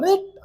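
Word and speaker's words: writ: नहीं दिया जाएगा, क्यों, क्योंकि डब्ल्यू यहाँ साइलेंट है, आर को यहाँ डब्ल्यू को क्या पर है, आर पर है, रिट, इसका उच्चारण क्या है, रिट, तो आर देंगे ना कि डब्ल्यू देंगे।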